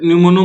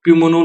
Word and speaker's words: pneumo: यहाँ पे न्यूमोनो मतलब P यहाँ पे साइलेंट रहेगा, इसलिए यहाँ पे इसको न्यूमोनो बोला जाता है, प्यूमोनो ना बोल के।